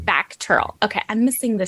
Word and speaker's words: VACTERL: well you were born with is it pronounced vateral or how do you pronounce that it's pronounced back Turtle okay I'm missing the C that's why okay